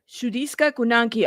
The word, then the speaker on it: Sudiksha Konanki: A 20-year-old Sudiksha Konanki was Sudiksha Konanki.